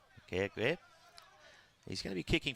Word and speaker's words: McGregor: I believe that's pronounced with a G. McGregor.